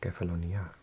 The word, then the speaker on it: Kefalonia: And it's actually got the accent on the A, so it's Kefalonia.